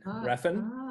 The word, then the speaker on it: Refn: Refn. Am I saying it right? Nicholas Winding Refn. Yes.